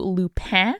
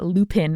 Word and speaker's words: Lupin: And this definitely fits the bill, where the Lupin, as you might pronounce it if you are not making a self-conscious gesture at a French accent like I am, those books are real.